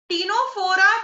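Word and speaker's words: Ctenophora: टीनोफोरा भी सी से start है पर सी साइलेंट है.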